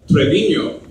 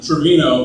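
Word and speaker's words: Treviño: My last name is actually pronounced Trevino, not Trevino, like that golfer, Lee Trevino, whoever he is.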